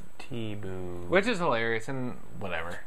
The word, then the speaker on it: Thibault: And they actually like spelt it out how some of these cars do it, like the T-B-O-O. That's how you say it. Thibault.